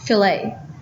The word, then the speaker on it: fillet: Another popular custom framing offering is the fillet, which can also be pronounced fillet.